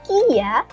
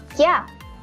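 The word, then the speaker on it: キャ: Bacanya bukan kia, tetapi kya. Bukan kia, tetapi kya.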